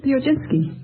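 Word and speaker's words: Piechocinski: with you uh uh how do you pronounce your name pinski would you mind spelling it p i e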